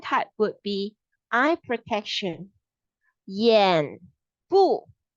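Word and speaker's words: 眼部: 眼部保护. 眼部 itself is the eyes part. Okay, this level. So 保护 is the protection. It will sound like Y-A-A-N, Y-A-H-N, 眼部 peekaboo, 眼部.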